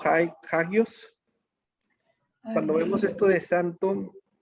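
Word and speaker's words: ἅγιος: Cuando vemos la palabra santo, vamos a ver su pronunciación, algo así como hagios.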